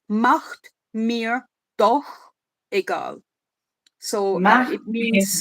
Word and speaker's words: macht mir doch egal: He does actually not bad with the CH, because in German CH is a it comes from the throat. So it's macht mir doch egal.